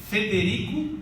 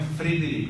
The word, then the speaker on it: Federico: É Martin, M-A-R-T-I-N, acento agudo no I, Martin Federico, não é Frederico, é Fe, F-E, tá?